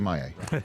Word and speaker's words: Maye: Drake May is getting 30% of first-team reps. No, he's not. Drake Maye.